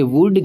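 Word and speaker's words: would: पढ़ेंगे कॉम ठीक है उसी तरीके से यहां पे देख लीजिए डब्ल्यू ओ यू एल डी इसको हम क्या पढ़ेंगे इसको हम पढ़ेंगे वुड क्योंकि रूल कहता है कि अगर एल जो है वो डी से पहले तो वहां पर भी एल साइलेंट रहेगा तो जब भी आप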